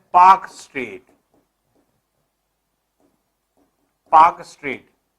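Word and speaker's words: Palk: तो जो ये स्ट्रेट है इसका नाम है पाक स्ट्रेट। पाक स्ट्रेट। इसमें एल साइलेंट होता है, पाक पढ़ा जाता है, पाक। तो एल साइलेंट है, पाल्क नहीं पढ़ा जाएगा, पाक।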